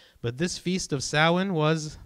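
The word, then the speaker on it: Samhain: this new year period which is spelled s-a-m-h-a-i-n but it's pronounced sowin right it's pronounced salmon even though it's not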